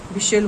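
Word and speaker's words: whistle: जब जल्दी में देखो हम यहाँ पर मैच बोलते हैं, विशिल बोलते हैं और आपका कैशल बोलते हैं, और यहाँ पर आपका लिसन बोलते हैं। तो यहाँ पर टी साइलेंट है, इस पर आपको विशेष ध्यान देना है।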